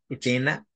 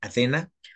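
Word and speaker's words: Ethena: que estoy hablando ahorita es etena o muchas personas literal lo pronuncian Atena pero el proyecto ahorita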